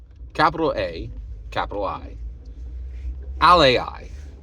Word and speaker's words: AlAI: capital a capital I Ali okay now wait that sounds a lot like Ally it does um but it's not exactly the same so what is